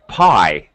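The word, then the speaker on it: pie: a y sound um sounds like I like Pi it makes a y sound it's not in the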